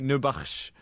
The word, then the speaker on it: Nourbakhsh: Nubash.